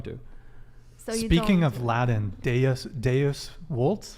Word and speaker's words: Deus vult: Speaking of Latin, Deus Deus vult? Deus vult. Deus vult. All the moderns want to do it the German way, but you got to do it like a good Italian.